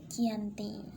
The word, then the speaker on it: Giyanti: 12 Februari tahun 1755 nama Giyanti sendiri diambil dari lokasi penandatanganan perjanjian itu yakni bertempat di desa Janti kalau dalam pelafalan Belanda disebut sebagai Yanti nah ke tempat tersebut